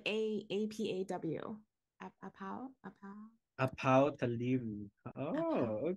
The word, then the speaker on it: apaw: Like A-P-A-W.